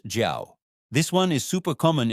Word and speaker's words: 叫: Pronounced jiao.